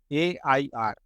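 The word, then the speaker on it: AIR: आगे एन लगा एंड ए आई आर all India radio यर नहीं बो एंड यर एमई नहीं बोलते एंड एआई आर ए एंड ईम आई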